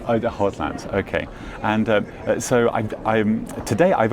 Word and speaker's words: Hautlence: Yes, so it's not an actual word, so everybody can kind of pronounce it as they want. Right. It has that French twist to it, so we go with Hautlence.